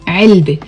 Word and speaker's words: علبة: But here the word is written as علبت with the te marbuta, but you don't pronounce the t when the word is on its own. علبة.